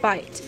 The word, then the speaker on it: bite: what should I write silent e goes on the end because the e tells the I to say its name I so now I have the word bite so I only have